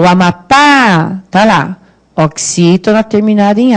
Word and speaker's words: Amapá: Amapá. Qual é a sílaba tônica? É o pá. O Amapá.